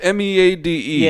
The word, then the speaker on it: Meade: fort meade in maryland is it mead it's m-e-a-d-e is it is it meat or midday no it's fort meade that's how i've always heard it pronounced me day well um so in